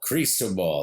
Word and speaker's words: Cristobal: we are looking at crystal ball that's like a crease in your pants your toe and a ball crystal ball that is the correct pronunciation of this tropical storm which it will remain